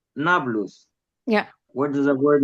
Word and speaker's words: Nablus: But Arabs cannot pronounce the letter P. So they turned it into Neapolis, which is Nablus.